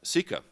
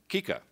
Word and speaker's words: CICA: ignorance in washington about ceca in fact uh until about an hour ago i would have pronounced the acronym kika so already this has